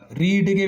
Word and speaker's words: read: ಸೇಮೇ, ರೀಡೇನೆ, ಬಟ್ ಉಚ್ಚಾರಣೆ ರೆಡ್ ಅಂತ ಓದಬೇಕು. ಇಲ್ಲಿ ನೋಡಿ, ರೀಡ್ ರೀಡ್ಸ್ V1 places. V2 ಕೂಡ READನೇ, ಬಟ್ ರೆಡ್ ಅಂತ ಓದಬೇಕು. V3 ಕೂಡ READನೇ, ಅದನ್ನು ರೆಡ್ ಅಂತ ಓದಬೇಕು. ಆಮೇಲೆ ರೀಡಿಂಗ್, ರೀಡ್ ರೀಡ್ಸ್, ರೆಡ್ ರೆಡ್ ರೀಡಿಂಗ್.